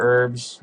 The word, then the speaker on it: herbs: I'll show you how many herbs and or herbs. I forgot to mention that I say it herbs like with the H, even though it's pronounced like herb or whatever, but here are my herb and or herbs.